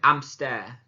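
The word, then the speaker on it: hámster: So obviously you'll have noticed in that pronunciation, you don't pronounce the H, and obviously with the A having the accent on it, it needs to be stressed even more.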